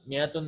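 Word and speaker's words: مائة: So miyatun, the alif is not pronounced, right? We write an alif here, but it is not pronounced. It is also written as like this. It is pronounced miyatun.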